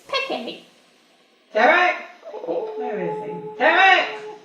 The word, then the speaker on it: Peck: Peck, I'm here. It's pronounced Pecky, dear.